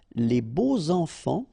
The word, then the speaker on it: les beaux enfants: And here it's quite interesting because even if you've got this X, well, phonetically it will be like Z, so like if it would be an S, okay?